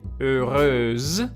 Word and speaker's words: heureuse: So in this word here, we can see that there is an E after the S, so I will say heureuse, so I will pronounce the ending as well.